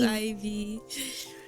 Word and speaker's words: Aevie: It is pronounced as Ivy.